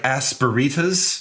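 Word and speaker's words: asperitas: It's kind of like Aspen, Colorado, except there's a retas at the end like margaritas. Like aspiritas.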